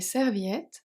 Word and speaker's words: serviettes: Nous préparons un grand sac avec des serviettes, des boissons fraîches, des sandwichs et plusieurs jeux. Nous, nous le final S et Silent. Préparons préparons Final S et Silent. un grand sac D silent avec des serviettes avec des serviettes part of letter serviette final